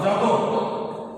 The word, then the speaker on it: জগৎ: যেমন জগৎ, জগৎ এর উচ্চারণ আমরা লিখব বর্গীয় জ গয়কারে ত, জগৎ।